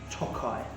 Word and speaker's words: Tokaji: So the main pronunciation here that you want to use, really, from a guest perspective, is Tokaji, and it's produced by the Royal Tokaji company.